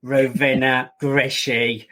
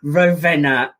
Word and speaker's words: Rovena: absolute pleasure and i'll say your name again rovina yes it's a difficult one for us here in the uk to pronounce rovena you have a really inspiring story of moving